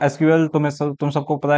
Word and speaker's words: SQL: तो एसक्यूएल तुम सबको पता है क्या होता है, स्ट्रक्चर्ड क्वेरी लैंग्वेज, और बहुत लोग एसक्यूएल को सीक्वल भी प्रोनाउंस करते हैं।